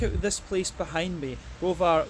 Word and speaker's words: Browar: this place behind me rovar Goshen yetz which I have pronounced right this time thankfully but uh yeah